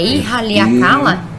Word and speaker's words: Ihaleakala: Por favor, nos diga primeiro como se pronuncia seu primeiro nome. É Ihaleakala? Ihaleakala.